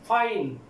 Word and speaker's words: fine: लेकिन वो साइलेंट होगा, जैसे कि फाइन, FINE, फाइन, फाइन क्या आखिर में क्या है, ई आखिर में है, वॉवेल है और लेकिन ई जो है वो साइलेंट है।